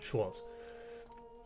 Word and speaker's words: Schwarz: Haha, I say it like a German. Schwarz.